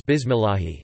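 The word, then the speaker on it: بسم الله: So if a Muslim says bismillahi, he should not pronounce the lam with a heavy emphasis, instead, just with the tip of the tongue.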